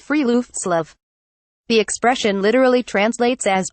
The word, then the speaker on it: friluftsliv: of what Scandinavians call for left Slav pronounced free loops love the expression literally translates